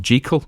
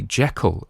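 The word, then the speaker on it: Jekyll: ghost story channel and jal is how it was supposed to be pronounced and that is apparently the Edinburgh pronunciation and he knew somebody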